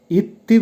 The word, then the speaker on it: идти: দেখেন প্রথম ভার্বটা হবে ইত্তি উচ্চারণ হবে ইত্তি যখন পায়ে হেঁটে যাবেন